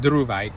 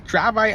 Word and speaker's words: dravite: element so dravite uh I used to call it duite or I don't know what it name is it's dravite I know I'm saying it correctly because I I wear